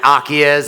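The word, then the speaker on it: Acies: I'm a co-founder and a general partner at Akiez Investments.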